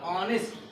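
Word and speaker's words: honest: Amit is ऑनेस्ट बॉय, काय को क्या साउंड कर रहा है, वॉवेल साउंड कर रहा है, ऑनेस्ट ओ का उच्चारण कर रहा है, इसलिए हमें लगाना है इसमें एन।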